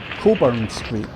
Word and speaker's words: Cockburn Street: Or, as we pronounce it, Coburn Street.